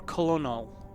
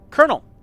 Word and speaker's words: colonel: Camp colonel or colonal? I don't understand how people go colonel. Where's the where's where's the R?